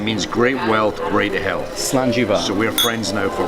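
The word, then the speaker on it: Slàinte mhath: Richard right now is just explaining to us how do you say cheers in Scottish. In Scottish, okay. So the phrase is, oh, sorry about that. No, go for it. Go for it. Slanjiva, right? Slanjiva, that's right.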